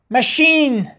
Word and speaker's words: machine: machine, CH چی تلفظ کردیم؟